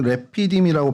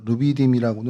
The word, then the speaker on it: 르비딤: 히브리어로 레피이라고 발음을 합니다. 저희가 루비디이라고는 하는데 정확히 발음이 레피디으로 발음을 하고요.